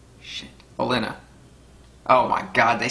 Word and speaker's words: Olenna: Baelish and Alina? Shit. Olenna.